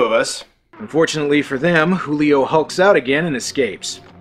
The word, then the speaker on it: Julio: might return to normal Julio it's pronounced Julio God I'm from Saskatchewan and I know that so having realized his